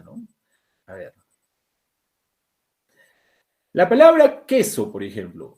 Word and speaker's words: queso: La palabra queso, por ejemplo. Yo estoy pronunciando queso o cueso. No, queso descartado entonces. ¿Ya? No es cueso. O sea, no está pronunciándose la U. La U está siendo muda.